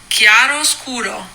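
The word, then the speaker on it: Chiaroscuro: And I always wanted to let you know that the correct pronunciation for the sweater you're making is Chiaro Scuro.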